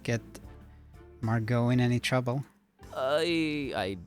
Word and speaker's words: Margot: quick BRB okay I marget or I guess it's uh pronounced Mar Margo since it's it rhymes with cargo Margo go and not marget Margot I just happen to